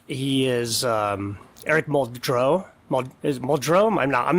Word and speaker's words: Muldrow: Is Muldrow? I'm not massacring your name, am I? No, you're good, Muldrow. Just how it's spelled.